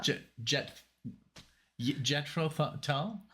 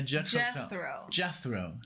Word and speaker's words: Jethro: lost against Jetro uh jet tell I can't say it man I'm sorry judging how you say it yeah yeah Jethro Jethro it's like death row Jethro it's Jethro talk